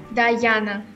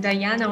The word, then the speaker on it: Dayana: name diana or diana dayana diana right i don't know why many people think that my name is pronounced like diana or diana but my name is uh pronounced like guyana yes okay how are